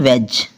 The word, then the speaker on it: wedge: EDGE ना कि एड्ज, क्योंकि जी से पहले डी है तो डी साइलेंट है। आगे है HEDGE हेज, हेज पना है हेड्ज नहीं। और WEDGE वेज, वेज नहीं, इसको पना क्या पना है वेज।